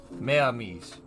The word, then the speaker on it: mes amis: Mes amis. Mes amis? Merci. Thank you. You don't pronounce it. Yeah, okay. That's what I was thinking. You add an S, but you don't pronounce it.